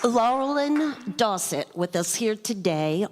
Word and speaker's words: Laurelyn: brothers, of course, and they used to call me Laurel and Hardy, which is a really good way to remember how to say my name.